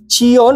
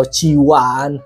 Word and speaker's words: Chione: Ini Gamdias Cion, atau gue nggak tahu ya pronunciasi apa, Cion atau Ciwan. Harusnya sih Ciwan ya.